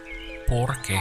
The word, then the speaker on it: porque: To say the word because in Spanish is porque. Porque. So we have por Por. and que. Que. Porque Porque.